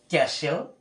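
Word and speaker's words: castle: যেমন এখানে দেখতে পাচ্ছি সিএএস, টিএলই, এখানে উচ্চারণ করতে হচ্ছে ক্যাশেল।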